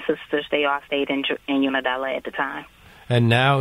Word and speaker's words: Unadilla: Rotundo, how big is, am I pronouncing it right, Unadilla, Georgia? Unadilla.